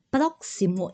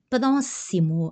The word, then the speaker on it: próximo: para el próximo ano ó próximo é um pronúncia do do X de português X Eks em português então a empresa estabelece metas ambiciosas para o próximo ano ó próximo aqui a pronúncia do X do X como uma s a empresa estabelece metas